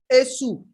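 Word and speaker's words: Èṣù: Esu? And he wants to make sure she pronounced it properly. Esu? Eshu.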